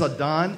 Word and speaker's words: Adan: So, my name is Adon. And a fun little fact about me is that my name is actually Spanish for Adam. But I insist on being called Adon versus Adam because I have this